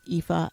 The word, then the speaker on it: Aoife: York right your um your name is IFA and um it's spelled a-o-i-f-e which is right the Gaelic way of spelling it right that's right yeah yeah so it's like the Gaelic version of Eve or Eva and so yeah it's